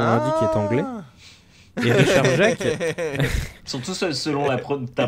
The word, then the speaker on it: Jacques: Et Richard Jacques. Surtout selon ta prononciation. Non, mais pour le coup, ça se prononce vraiment. En fait, ça s'écrit Jacques, J-A-C-Q-U-E-S.